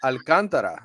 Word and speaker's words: Alcantara: did alcantara that's right alcantara that's the way you say it in spanish right i mean that's